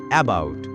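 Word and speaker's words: about: এখানে ও ইউ দুটি ভাওয়েল মিলে একটি লং সাউন্ড দিয়েছে আও। তাই এই শব্দের সঠিক প্রোনাউন্সিয়েশন হবে এবাউট।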